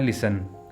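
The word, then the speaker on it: listen: साथ डिस्कस करते हैं वर्ड है लिसन यहां पर टी के बाद ई एन आ रहा है इसलिए यहां पर टी जो साइलेंट है लिसन वर्ड है ऑन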